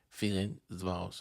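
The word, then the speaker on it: Ferencváros: le club de ferenos voilà aujourd'hui j'ai bien prononcé son nom c'est ferenvos voilà et ceux qui connaissent pas AB Maiga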